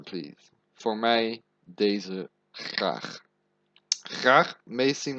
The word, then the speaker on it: graag: Graag may seem like a weird word, but it's just to make it more polite.